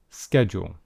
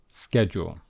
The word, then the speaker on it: schedule: Schedule. And in fact, this has two different types of pronunciation. And this is the American pronunciation. Schedule. Schedule. Okay? But there is also a British English pronunciation.